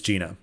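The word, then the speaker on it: Njena: gift from omnia soul but anyways here is gina and we'll be back with you after the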